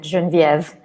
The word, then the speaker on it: Genevieve: And first of all, I apologize, but I pronounce it Genevieve. Very much the French way, Genevieve Leveille.